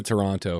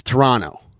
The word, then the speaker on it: Toronto: And you have to say it like this when they're there. They go, "It's Toronto." They were saying that. Toronto. And I go, then spell it differently. I pronounce T's are hard, meaning I'm not swallowing that.